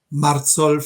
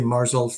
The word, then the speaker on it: Marzolph: say your last name marzol is the German pronunciation but you might say marzol that's fair enough okay okay